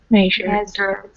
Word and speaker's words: measured: You want to pronounce the last sound on the end of this word, for example, because if you say, well, listen to the difference. First one, measure. Second one, past tense, measured.